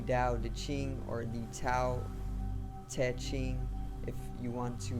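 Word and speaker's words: Tao Te Ching: i n g okay and um basically the dao de ching it introduces us to the way which is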